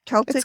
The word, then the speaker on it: Celtic: Celtic with a hard C.